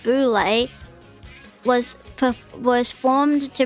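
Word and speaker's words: Boulé: buly an acronym for Sigma F fi and pronounced Boule was per was formed to bring together a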